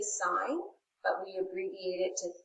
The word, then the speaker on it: sine: the box here so sine that's the full word s-i-n-e of angle a okay abbreviation is s-i-n but it's not pronounced sin math is not a sin so we still say sign but we abbreviate it